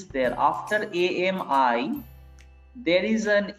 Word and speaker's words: amie: Boy, a friend who is a male, and Ami, same pronunciation.